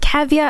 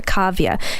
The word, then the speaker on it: Kavya: was like, is it Kavya? And I said, no, Kavya. Is it Kavya? No, Kavya. And she wrote it down phonetically.